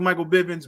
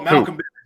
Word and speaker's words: Malcolm Bivens: And I mean, again, I don't like Michael Bivens, but character work and I can tell you don't like it because you saying that man's name wrong. Oh, Malcolm Bivens, yeah.